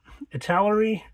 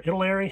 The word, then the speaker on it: Italeri: Down below, just kind of got some Italeri or Italeri, however you want to pronounce it. Either way is correct.